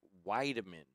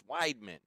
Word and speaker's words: Weidman: Now that I'm dyslexic, I can't remember it, but she gave me an earful for saying Weideman, like 3 syllables. She said, "It's Weidman," and just lit me up during a break.